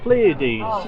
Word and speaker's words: Pleiades: Kai, the Pleiades. Yeah. Is that how I pronounce it?